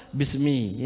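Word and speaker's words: بسم: Adapun di daerah lain masih dia, cuma membacanya tetap bismi, ya, tetap bismi, walaupun dia ada alif itu.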